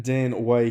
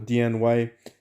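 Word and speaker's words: Dian Wei: for the way nation being dan away himself or diane way depending on how you like to pronounce him i like to butcher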